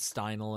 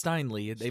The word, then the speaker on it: Steinle: Steinem Steinle yeah Steinle I don't know why everybody's all sudden mispronouncing that everybody's calling it Steindl and all it's Steinle it's always been Steinle for the past year so that everybody's been talking about it it's Steinle right